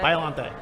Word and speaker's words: Biollante: I know that's not how everybody pronounces it. That's how I pronounce it. Biollante.